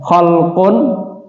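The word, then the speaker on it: خَلْق: jenengan wonten kitabipun Nggih khalaqo hurufipun Sami k lam qof tapi cara bacane Benten ya kholqun khnya di Fathah lamnya di sukun qofnya di dahain atau dah artinya ciptaan atau makhluk kalau khulukun artinya akhlak ya Fadlu husnil khului keutamaan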